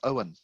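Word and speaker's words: Eoin: you that it's pronounced owen it's spelt a funny way but it's owen colfer it's the irish spelling but i want to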